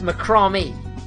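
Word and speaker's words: macramé: segments ah thanks jack apparently it's macrami it rhymes with salami that's good let's go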